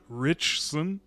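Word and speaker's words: Ritchson: Richson. like rich like rich son but not uh got fed up with it and just avatar straight up.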